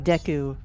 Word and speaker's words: Deku: got a one point achievement for getting a deco nut and man press b to flying when